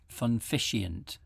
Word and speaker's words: Funficient: Funficient. Is that how you say it? Yes, it's like putting the fun back into efficiency.